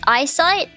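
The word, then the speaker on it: AISight: an automated camera system called AIS sight pron pronounced eyesight was installed in Boston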